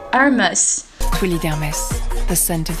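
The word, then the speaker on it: Hermès: Так как фирма французская, то H глухая, и мы будем произносить это слово как Hermes.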